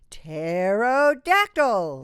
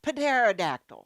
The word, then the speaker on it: pterodactyl: you know this one it's the pterodactyl not Panera dactyl no no pterodactyl right and these are